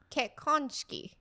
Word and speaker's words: 結婚式: And in Japanese, 結婚式. Okay, that's even harder, I think. What? Right? Tell me if I'm wrong. 結婚式. Wait, what? 結婚式. 結婚. Shiki. Shiki. Kekonshiki.